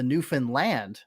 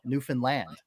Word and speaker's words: Newfoundland: ECHL, I had the opportunity to cover the Newfoundland. That's how you pronounce it. I come to find out after covering the Growlers of the ECHL, Newfoundland.